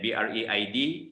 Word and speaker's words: braid: And BRAID is braid. Okay, braid, like braid your hair.